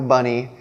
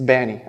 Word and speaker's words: b4nny: So it's still pronounced b4nny. Some people, they don't get the 4 as leet speak, right? It's not a U, it's not an E. There's no Benny, there's no Bunny, there's no Bonnie, no Binny.